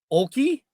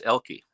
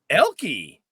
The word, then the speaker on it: Oelke: first e so Troy Oki did I get that right or wrong close the O is actually silent it's elky elky yeah the O has